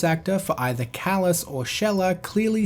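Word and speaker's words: Xelha: By a woman named Zelha. By a woman named Zelha. By a woman named Zelha. Throughout the entire game, her name is pretty clearly pronounced Shella over and over and over again.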